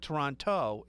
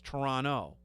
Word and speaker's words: Toronto: right now it's not Toronto it's Toronto they don't pronounce that t the torontonians don't oh really so it's